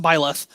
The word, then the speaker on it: Byleth: Let's clear out the rest of the Emblos with Bailiff. Is that how you pronounce it? I always pronounce it Byleth. Okay. Yes, that's correct.